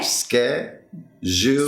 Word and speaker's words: schedule: Schedule. Jewel. Okay, let's try that out. Ske. Schedule.